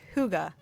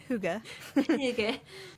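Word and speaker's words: hygge: It is a Danish word. Huga.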